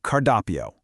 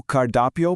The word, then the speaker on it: cardápio: The tricky word here is menu, which translates to cardápio. Let's sound out the phonetics together. Posso ver o cardápio, por favor? I'll give you a quick beat to practice that yourself. Posso ver o cardápio, por favor?